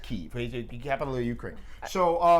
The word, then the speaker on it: Kyiv: So that was in Kiev. They pronounce it Kyiv, the capital of Ukraine.